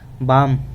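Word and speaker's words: balm: बाम. L silent रखेंगे इधर. बाम बाम बोलेंगे. बाम बोला है.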